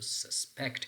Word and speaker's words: suspect: suspect or suspect so so suspect is correct you have to place a St pattern on the second CLL so down number two